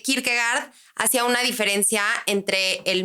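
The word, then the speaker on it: Kierkegaard: que el buen Mike que se pronuncia Kirk verdad que Kirk gard hacía una diferencia entre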